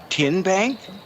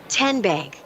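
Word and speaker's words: TNBank: Tin Bank. Uh-uh. So, what is it? Tenbank. 10 as in Tennessee.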